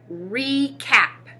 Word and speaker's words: recap: hear two awesome job the vowel in re is not closed by a consonant so it is an open syllable and has the long vowel sound the prefix re means